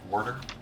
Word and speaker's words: water: Pronounced Warder. Water. It's a local dialect.